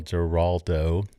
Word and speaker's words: Giraldo: We had Ari Sussman, their master blender, master distiller, on the show last year with the founder, Neil Giraldo.